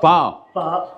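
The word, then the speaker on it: phở: that is oh man food here the f f how I say far F far way say yeah English yeah pronounced fo but in actual Vietnamese it's far far okay and then you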